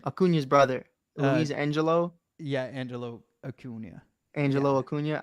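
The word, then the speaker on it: Luisangel: how do you say his name aun's brother Louise Angelo yeah Angelo aunia Angelo aunia because it has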